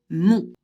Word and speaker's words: mon: O et N, ça fait on. Donc, on prononce le possessif masculin de je, mon.